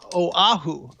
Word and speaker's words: Oahu: weather this morning and the woman saying oh ha oh ah hoo the island of Oahu and I'm like I